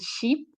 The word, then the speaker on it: sheep: pronounce it well so ship is a shorter sound and C is quite a long sand you're smiling like the way you say cheese when you take a photo so um what I